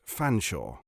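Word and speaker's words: Featherstonehaugh: thing just as featherstone is always to be pronounced fanshawe he practiced it several times and nodded with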